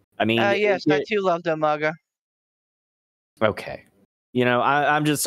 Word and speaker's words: Umaga: That was Umaga. Umanga. Humongo. Who called him Umanga? Regal. I don't know. Regal. Umanga. That's right. Poor William Regal could not pronounce his name.